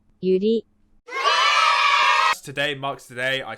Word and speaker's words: Yuri: How do you pronounce it? Natsuki? Sayori? Teach me. Natsuki, Sayori, Monika, Yuri.